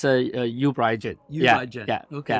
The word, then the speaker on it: uBriGene: Can you pronounce the name for me? It's a uBriGene.